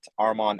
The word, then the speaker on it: Armon: My username is at Armon. And the easiest way to remember my name is my arm is on, and that's exactly how you spell it, arm on.